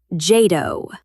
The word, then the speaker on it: JADO: All-Domain Operations, or, as the Pentagon insists we pronounce it, JADO, which sounds less like doctrine and more like someone who produces electronic music in Berlin.